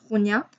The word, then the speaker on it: Ronja: Alors, il écrit Ronja, mais moi je prononce Ronia.